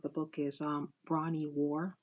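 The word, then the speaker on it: Ware: book is um bronny war war spelled w a r e I guess um the E is silent and yes I was going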